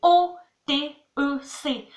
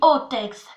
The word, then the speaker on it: otec: Attention, on dit pas Otec, on dit Otex. Comme ça, Otex. Un truc comme ça, donc c'est très compliqué aussi. Pourtant, ça s'écrit pas E-T à la fin, mais E-C.